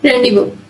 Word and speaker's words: rendezvous: There are not so many words with a silent Z. The most common ones are and rendezvous.